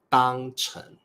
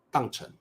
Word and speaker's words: 当成: 母语者常常会念成当成、当做。不过 correct pronunciation is 当做、当成。But if you hear us read like 当